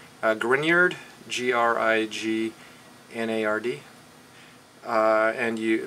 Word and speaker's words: Grignard: a french name grignard g-r-i-g-n-a-r-d uh and you the middle g is silent so it's grignard g-r-i-g-n-a-r-d and it's